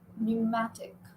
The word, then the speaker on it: pneumatic: P is silent. Pneumatic.